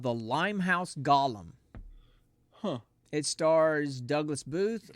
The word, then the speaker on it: Golem: So we're going to be watching a movie from 2016 called The Limehouse Golem. Huh. It stars Douglas Booth, Olivia Cook, Sam It's Reed.